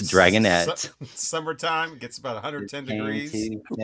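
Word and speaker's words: Dragonette: Dragon nuts dragonet oh oh not Dragon nuts dragonet summertime gets about 110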